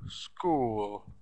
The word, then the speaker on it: school: So we should spell it like school, S-C-H-O-O-L, but really the sounds of the word S, K, U, L, school, school.